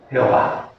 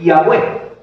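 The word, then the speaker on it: Yahweh: entendiendo Ese es Jehová Aunque la más probable pronunciación del inefable nombre del señor es yahwe eh yahwe haciendo énfasis fonético en las consonantes y no Pues en las vocales más o menos es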